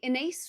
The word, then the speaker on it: Ines: Um, oh, I would say Inace rhymes with face or with space.